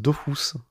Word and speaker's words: Dofus: En Kamel, ils disent que ça se prononce Dofus.